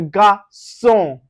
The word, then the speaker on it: garçon: Now, anywhere you see the C with cédille, with that C, cédille with A or O or U, you pronounce it with S.